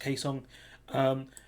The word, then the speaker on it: Kaesong: office with South Korea, and I think that's pronounced Kaesong.